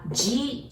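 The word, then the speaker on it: じ: The second one, you would want to pronounce Z, but we don't have that sound in Japanese. So we pronounce it like J-I, G, okay?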